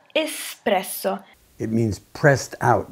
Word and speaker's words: espresso: and tight coffee preparation espresso espresso so when you pronounce espresso there is no x in the word so you don't say expresso just espresso it means pressed out